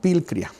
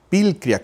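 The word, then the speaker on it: πικρία: Ahora, esta amargura en el idioma griego es una palabra que se pronuncia como pilcria. Pilcria con K, pilcria.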